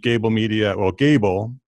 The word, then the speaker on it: Gābl: And it's spelled Gābl without any, it's G-A-B-L with a little line over the A, so everybody says it right.